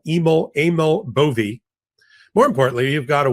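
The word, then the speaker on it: Emil Bove: I've been calling him Emil Bo for the longest time, but apparently he corrected the record. He is Eml Aml Boie.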